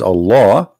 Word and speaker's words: Allah: The first one pronounced as Allah.